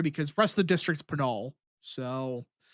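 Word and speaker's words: Pinal: Do you say it penol or penol? Penol. I say penol. Yeah. No, I I I actually work with people from penol county every day and I just have never I I realize I've been saying it wrong every time. Yeah, it's penol.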